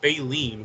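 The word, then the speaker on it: baleen: referring to well because it's pronounced bileen which is Bine is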